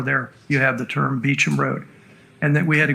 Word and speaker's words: Beauchamp: had to go down beecham road which is really beauchamp road to but pronounced speech and because a family by the name of beecham lived off of that